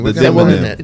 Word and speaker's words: demonym: I never knew that that was the demonym. Yes. That's, I never knew that. What was that word? Culinarian. Demonym.